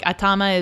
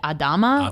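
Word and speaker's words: あたま: language I mean like like atama is the word for head and the old lady pronounces it Adama or something like that and when you're under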